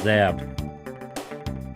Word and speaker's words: XABB: This is the XABB crane, pronounced Zab.